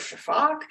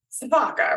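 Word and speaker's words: sifaka: pronounce the the word Shaak um it's spelled s f a Ka a um so but the uh s i pronounce like an sh um and I don't pronounce an A on the end um and a lot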